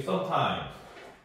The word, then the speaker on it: sometimes: 근데 원래는 이제 이 S 발음이 sometime 이게 이제 유성음으로 발음이 되기 때문에 주로 이제 문법적으로는 그렇게 우리가 다 예전에 영국식 영어 공부할 때 이렇게 다 그런 식으로 이제 공부를 했는데 실제로 미국에서는 이제 발음을 하면은 거의 다 스예요, 스. sometimes 이렇게 발음하지는 않아요. sometimes. 그래서 다 스로 통일을 해두시면 좋을 것 같아요.